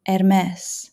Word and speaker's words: Hermès: And pay attention to how it is actually pronounced, won't you? Loro Piana, Brunello Cucinelli, Hermès.